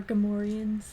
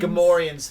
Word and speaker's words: Gamorreans: Gamorreans. See, Cole is correcting you. The pig people are Gamorreans, not Gorians. Gamorreans, thank you very much.